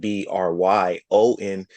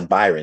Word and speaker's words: Bryon: So when they see that Bryon, they twist it to Byron and put the Hmm. BYR. And they say Byron. They look right at it. And I said, oh That's no, right. the R is right after the B. That's not Byron.